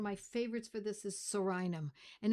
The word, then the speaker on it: Psorinum: favorites for this is Psorinum and it's spelled P-S-O-R-I-N-U-M. Psorinum. It's like pneumonia where the P is silent.